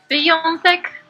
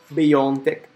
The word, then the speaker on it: wyjątek: Okay, so, but now how do I properly pronounce it? That's the real question. Wyjątek. Wyjątek.